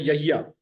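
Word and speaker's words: يحيىٰ: सिंधी में बोलते हैं यहिया, उर्दू में बोलते हैं याहिया, ये फर्क होता है।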